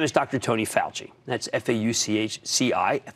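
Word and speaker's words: Fauci: Tony Falchi that's FAU ch CI if they use CI but it's pronounced pal G he's an immunologist and director of the National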